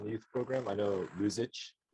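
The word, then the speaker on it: Luxich: youth program I know lose itch or luxage I I it's spelled l-u-x-i-c-h lose it um he told me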